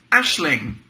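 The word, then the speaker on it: Aisling: see pronunciation Hub it's an Irish name it's pronounced Ashley Ashling thanks yeah um my family have a dog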